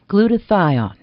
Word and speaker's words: glutathione: Glutathione. Doctor, what is glutathione? Am I pronouncing it right?